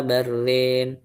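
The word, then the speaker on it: بل ران: Kalla bal rona. Nah, di sini Imam Sybah baca pakai idgham plus imalah ya. Kalla barrin. Kalla barrin barrin ya. Bal rona. Jadi diimalahkan barrin kalla barrin gitu kalla barina alaubihim.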